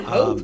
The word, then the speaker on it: Hoth: Yeah, Hoth.